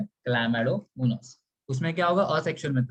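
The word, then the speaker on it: Chlamydomonas: इसका प्रोनाउंसिएशन क्या है, क्लैमेडोमोनास.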